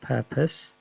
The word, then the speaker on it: purpose: it per pose yeah um even though it's pronounced purpose yeah people might not use an o they